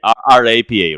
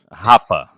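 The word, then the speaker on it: Rappa: I'm saying RAPA, right? say it again. I say Rapa like a total honky. How do you say it? Hapa.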